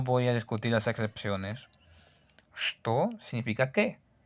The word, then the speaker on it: что: Vemos esta palabra, la palabra что. Se escribe che-te-o, pero no se pronuncia.